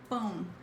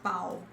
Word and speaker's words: pão: Guys, it's not pau. Pau. Not pau. Don't say, oh, no. It's not a good idea for you to say that. People will mock you forever if you say pau. So say pão.